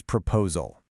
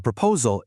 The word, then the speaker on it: proposal: We put the stress on that second syllable, pro-po-sal.